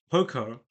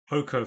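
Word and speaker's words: Poko: main character called um Poco. Oh, I think in Japanese it's like Ko Ko Ko cuz it's it's it's like a long O.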